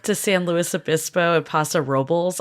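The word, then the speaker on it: Paso Robles: St Louis abiso and Passa robbles I've learned that's how you pronounce it not Rob which is what I and everyone else calls it which is basically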